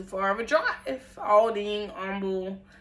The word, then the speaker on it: Humble: Aldine, Humble, yes, it's humble. It's not humble, even though it's spelled like humble.